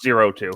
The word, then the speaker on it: 02: It's pronounced 02.